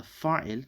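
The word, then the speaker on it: فاعل: The fa'il, this is fa'ilun, but we don't normally pronounce that last bit over there.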